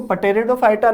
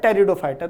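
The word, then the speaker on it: Pteridophyta: जैसे ये वर्ड है तो इसको पटेरिडोफाइटा ना बोल के ये होता है टेरिडोफाइटा। तो टेरिडोफाइटा क्यों होता है? इसमें पी क्यों साइलेंट है?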